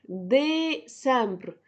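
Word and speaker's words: décembre: نوفا نوفا نوفا نوفا ان او في اللي بنطقه بكتبه نوفمبر الاخير ديسمبر ديسامبر ديسامبر دي اي اس دي اي سي دي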